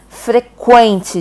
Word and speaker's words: frequente: Frequente, gente. Ó, mesma coisa, quente, mesmo som. Toda vez que você tiver esse som do antigo, falecido, enterrado, trema. Vocês lembram que é trema? São essas duas bolinhas que ficavam aqui em cima do U, para indicar esse som do quen, quen, quen, do pato, né? Ele morreu com o novo acordo ortográfico, tá?